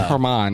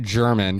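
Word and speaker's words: Germán: It's Herman, not German.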